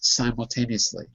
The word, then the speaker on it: simultaneously: If the syllable was sim, sim, then that would be different. But it's not. It's si. That's the syllable. Therefore, you have to say the name of the vowel.